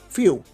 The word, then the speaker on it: Fu: I just know based on the DLC that's releasing now for Xenoverse 2, they're showing Few. I think Few is how you pronounce it.